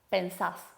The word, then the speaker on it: pensás: segunda persona del singular y acentuamos la última sílaba, la última vocal. Pensás.